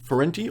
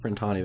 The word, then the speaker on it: Frentani: at the moment, so the Ferenti or Frentani, that's, I pronounced that wrong last episode I think, Frentani, there we go.